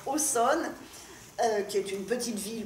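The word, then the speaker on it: Auxonne: famille originaire de Aussonne alors ça s'écrit oxon et en Bourgogne ça se prononce au sol qui est une petite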